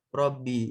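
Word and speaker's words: رَبِّ: Makanya Robbi itu bacanya Robbi. Dia majur dengan kasroh.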